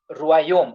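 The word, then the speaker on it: royaume: So, this word will be read as Ruayom.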